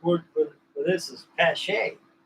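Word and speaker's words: Paasche: The correct word for this is Pache. A lot of guys call it a posh.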